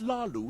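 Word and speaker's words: Hlaalu: It's Lalu with a silent H.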